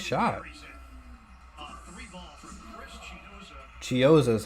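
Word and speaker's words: Chiozza: Three ball from Chris Chioza is how you say it.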